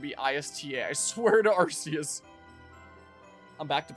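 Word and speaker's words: Arceus: I swear to Arus. I'm back to pronouncing that the way that I uh prefer to. Sometimes I keep in the back of my mind that it's supposed to be pronounced Archus, so I correct myself.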